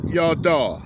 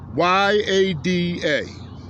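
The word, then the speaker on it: ידע: So the word no from the Hebrew is pronounced yada. Y-A-D-A is pronounced yada.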